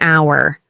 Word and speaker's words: hour: We also use n for words that start with a silent h because the first sound is a vowel. For example, an hour.